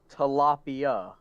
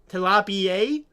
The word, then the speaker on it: tilapia: It is pronounced tilapia. Tilapia?